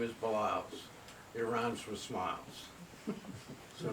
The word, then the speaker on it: Baliles: introduce himself and he'd say my name is baz he RS with smiles so now you know